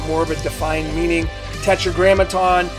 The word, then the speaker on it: Tetragrammaton: Tetragrammaton, it's a five-syllable word.